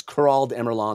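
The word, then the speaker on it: Kurald Emurlahn: that what it is it's not star I said it wrong it's kurald emeron the shattered Warren that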